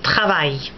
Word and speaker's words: travail: AIL sounds like the English I or the Spanish ay, as in travail, work.